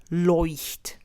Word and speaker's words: Leuchtturm: So the first syllable, leucht, you would pronounce similar to the word koi. So instead of k, oi, you would say loi.